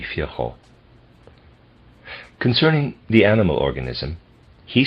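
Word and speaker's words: Virchow: Viral is spelled V I R C H O W Fhao or maybe Fho.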